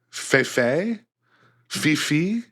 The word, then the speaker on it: Fifi: name of it is Fe Fifi I have it here there's an accent on the second e so F fi but they're Italian it doesn't sound very Italian I would say it's